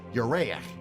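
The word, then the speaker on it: ירח: This is also why Hebrew for month is written like the Hebrew for moon, though the two words are pronounced differently.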